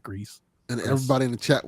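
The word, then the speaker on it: Gris: it Becca swears it's gree I thought it was gree but the developers themselves they call it Greece and everybody in the chat was saying it Greece they told us a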